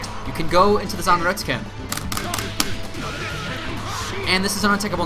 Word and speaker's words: Zanretsuken: Zanretsuken, that's how you pronounce it.